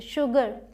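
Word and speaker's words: sugar: यहाँ पर H नहीं है, फिर भी इसे हम श प्रोनाउंस करते हैं। एक्सेप्शन समझ लीजिए, शुगर, शुगर केन।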